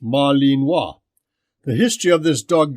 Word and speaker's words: Malinois: researched in depth was the Belgian Malinois pronounced Marlene wah the history of this